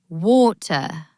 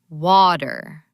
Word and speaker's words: water: In British English, they might say water with a very clear T. But in American English, that T turns into a soft D. It becomes water.